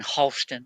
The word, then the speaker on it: Houston: You go to New York, they pronounce Houston Houston. It's Houston Street.